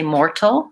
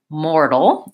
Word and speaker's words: mortal: earth more and then the T doesn't say T we don't say mortal in American English we say mortal it sounds more like a D it's a flap T so more dull and